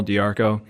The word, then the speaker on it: DeArco: I am on instagram at Darko just my name de AR Co a link it it spelled like dear Co but I'm also on